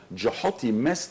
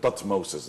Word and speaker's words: Thutmose: That's hieroglyphic, how you can pronounce the name. Of course, we took it and we made it Thutmoses III, yes, right, which is wrong. So, but there is nothing called Thutmoses III. And if you went back to ancient Egypt, 1400s BC, and called somebody Thutmoses, nobody's going to give you any concern. Because you are not pronouncing something ancient Egyptian.